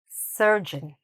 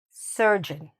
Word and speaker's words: surgeon: The correct pronunciation is "surgeon", "surgeon", okay? Where's the stress? At the beginning, "surgeon", okay?